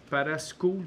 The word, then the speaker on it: Parascool: Point 26 Académie Parascool. Parascol qu'on prononce ça ? On dit Parasco.